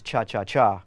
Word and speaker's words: cha-cha-cha: The cha-cha groove, actually the correct pronunciation is cha-cha-cha with 3.